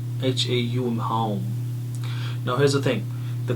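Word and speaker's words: Haum: Okay, the Bij mantra of this chakra is Hum, H-A-U-M, so it is pronounced as Hum, H-A-U-M, Hum.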